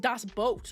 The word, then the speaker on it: Das Boot: Oh, it's pronounced Das Boot. Oh, okay. But maybe say boot for the user engagement.